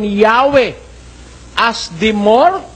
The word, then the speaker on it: Yahweh: while inclining to view the pronunciation Yahwe as the more correct way we have the form Jehovah because of people's familiarity with it since the 14th century niyo tagalugin natin bagaman